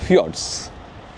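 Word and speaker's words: fjords: উচ্চারণটা কিন্তু ফিওয়ারস। স্পেলিংটা এফ জে ও আর ডি এস।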